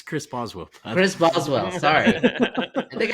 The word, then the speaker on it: Chris Boswell: quarterback how do you say his name it's Chris Boswell Chris Boswell sorry I think I said that